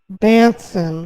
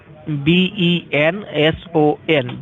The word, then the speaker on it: Benson: Mark, is it Benson or Banson? How do I spell that? B-E-N-S-O-N. Benson. Okay, Benson.